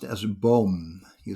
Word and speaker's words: boom: say tree in dutch we pronounce it as bomb you spell it as b double double o m it's